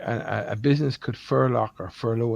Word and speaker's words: furlough: belt for a lot but I now believe pronounced furlough oh no no no believe it or not